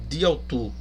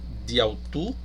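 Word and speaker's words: δι' αὐτοῦ: E aqui você também pode, observe essa expressão aqui, ó, diautu, né? O di é a preposição dia, né? Aqui ela também é uma preposição proclítica, né? Onde vai ser diautu, ela se pronuncia juntamente com o autu, né?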